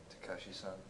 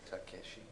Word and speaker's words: Takeshi: Maybe Takashi-san. Takeshi-san, because it's, look at how his name is spelled. It's Takeshi. Takeshi.